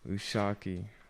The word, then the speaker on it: Lushaki: Usaki, I said it right.